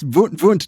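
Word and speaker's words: Wundt: better at that at the more German Germanic Prussian pronunciation but he's yes vunt just for the record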